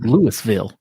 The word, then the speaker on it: Louisville: It's pronounced debuted, and it's Louisville.